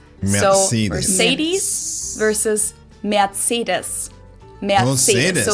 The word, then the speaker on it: Mercedes: Most Americans call this Mercedes. In German we pronounce it Mercedes. So Oh, Mercedes. It almost sounds a little French.